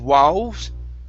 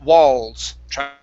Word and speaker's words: walls: the word walls okay give me a good l here instead of wow it's walls okay good so we're going